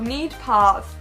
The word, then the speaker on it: Neidpath: know get deeper into it the land of neat paths which is how it's pronounced actually belongs to three generations of families